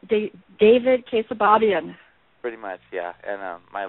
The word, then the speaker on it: Keosababian: David Keosababian. Pretty much, yeah. And my last name is Keosababian. And if you were to read it and pronounce it correctly, the first time you see